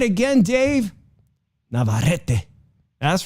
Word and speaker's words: Navarrete: only lost to say it right again dave navarrete that's right two time losses to navarrete oh